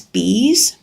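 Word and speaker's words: Bea: I've got a friend at one of my groups that she absolutely loves bees. Her name is actually Bee. It's spelled B-E-A.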